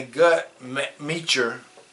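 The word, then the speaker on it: Guttmacher: all nationalities of people it says in the gut meure the gut meure um website is g u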